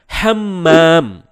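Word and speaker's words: حمّام: Nah, jika bacanya tanpa tekanan yakni hamam, maka artinya merpati. Namun jika dibaca dengan tekanan menjadi hammam, maka artinya kamar mandi.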